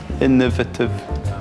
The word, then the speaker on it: innovative: It's not a difficult word. It's those three syllables. Innovative. That's four, isn't it?